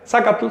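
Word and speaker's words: zacatl: Y la verdad es que el Nawat no pronuncia la Z. Observen el cuadro de sonidos del Nawa, no incluye la Z. Así que si ven términos como sacat escrito con Z, pronúncienlo con S porque así es como debe ser.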